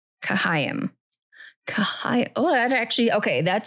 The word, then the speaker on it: Chaim: So I've been saying it like as Chaim in my head or something, but it's Chaim.